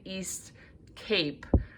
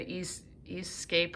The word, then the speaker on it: East Cape: that we've created that i mispronounced even east cape i think i said east escape or something but nonetheless i will